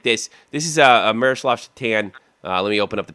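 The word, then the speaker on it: Šatan: You believe the guy's name's Satan? Pronounced Satan. Yeah, Satan. I think he said His name's Satan.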